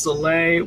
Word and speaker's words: Sole: Someone told me about drinking each morning a teaspoon of Sol, pronounced Soleil water, that's been fully saturated with pink Himalayan salt overnight.